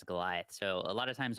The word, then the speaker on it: Golioth: You know that our name is Goliath spelled wrong, right? We put IoT in the middle. Sometimes folks don't know how to pronounce that as Goliath.